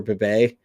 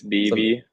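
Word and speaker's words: Bibee: Is it Bibi or Bibe? Tanner Bibe. I can never remember how to pronounce his name. I believe it's BB. I think it's BB.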